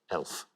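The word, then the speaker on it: e.l.f.: is short for eyes lips face and is pronounced elf so which leaves us with the pointless answer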